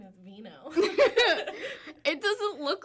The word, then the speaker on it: Vigneaux: My last name is Vigneaux.